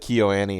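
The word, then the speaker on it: KyoAni: let's talk about CNN yeah yeah am i pronouncing it correctly by the way I said key Oh Annie is that correct yeah I know it's got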